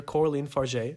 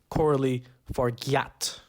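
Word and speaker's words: Coralie Fargeat: by new French director Coraline far no it's not pronounced Cory forat I should have probably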